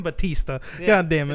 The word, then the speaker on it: Bautista: Bautista. That's how everyone fucking pronounces it. Fucking Batista.